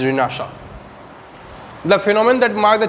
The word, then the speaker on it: Renaissance: this chapter is renaissance which is also some people call renaissance but the real pronunciation of this world is renaissance the phenomenon that mark